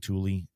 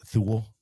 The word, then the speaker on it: Thule: And then Yakima and Thule. A lot of people think that's Thule, T-H-U-L-E. Everybody sees it. They make a lot of stuff. There's some European company. I think it's pronounced Thule.